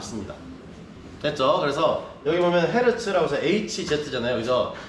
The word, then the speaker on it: 헤르츠: 그래서 헤르츠라고 하고요. 요거를 헤르츠라고 하지 않고 여러분 그러니까 미국식 라디오나 이런 것들 들으면 헐츠라고 합니다. 헐츠.